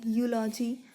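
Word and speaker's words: eulogy: यूलॉजी है, य से प्रोनाउंस हो रहा है यूलॉजी, तो आपका यहाँ पे ए आना चाहिए।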